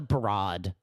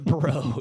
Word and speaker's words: Broad: Not the broad. The broad. The broad. It's spelled like broad, but that it's not you can't say that word anymore.